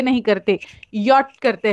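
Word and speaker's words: ja: जे ए लिखते हो, उसे हम प्रोनाउंस करते वक्त जा नहीं करते, हम लोग या करते हैं, राइट।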